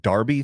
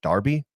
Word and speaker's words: Derby: you hear the word Darby thrown around in soccer it's really spelled like Derby like a derby hat or the Kentucky Derby but in Britain they pronounce it Darby I don't know why